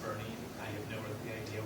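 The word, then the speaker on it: Boerne: So that goes up to the Supreme Court in the City of Bernie versus Flores. Yes, it is pronounced Bernie.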